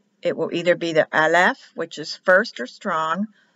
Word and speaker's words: Aleph: Aleph is the first letter. It is always silent. It is not an A in Hebrew, and it's always